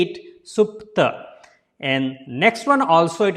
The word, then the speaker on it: Supta: So how to pronounce the first name? So it is a Supta. Don't say Supta.